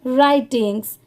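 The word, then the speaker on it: writings: अब यहां पर भी देखिए इस वर्ड में भी डब्ल्यू लेटर साइलेंट है। सिर्फ हम यहां पर आर आई टी आई एन जी एस राइटिंग्स he pronounce कर रहे हैं।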